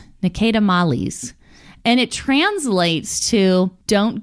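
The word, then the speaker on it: Ne Cede Malis: It's a Petite Syrah, but the way that you pronounce this Latin word is Nicedamales.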